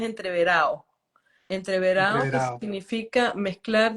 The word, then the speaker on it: entreverado: La pronunciación del diccionario es entreverado y la ¿verdad? pronunciación de la calle, del llano, es entreverado.